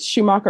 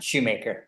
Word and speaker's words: Schumacher: Am I pronouncing it right? Is it Schumacher or Shoemaker? Shoemaker. All right, you're Mr. Shoemaker.